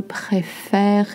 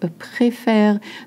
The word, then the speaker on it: préfère: The first one sounds like the E, je préfère, the E that you have in cake. The second one is more like the E that you have in pet.